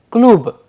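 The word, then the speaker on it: клуб: That is why when we are pronouncing the word klub, the pronunciation is coming klub, because the fundamental rule of devoicing of consonants is playing a vital role.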